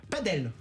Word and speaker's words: padel: C'était intéressant, ça prononce comment? Padel. Exactement. La vraie prononciation, c'est padel.